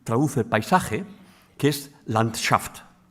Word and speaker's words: Landschaft: Y existe también otra palabra que también traduce el paisaje, que es landshaft. En ruso se dice acentuando la segunda sílaba, en alemán en la primera.